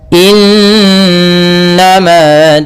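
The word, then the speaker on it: إنما: Semoga innama tuaduna lawaqi' pada bacaan innama di sini ada nun berharakat tasdid diwarnai dengan warna hijau. Ini bacaan ghunah. Cara membacanya suara n-nya ditahan dua harakat. Innama nah baru dilepas.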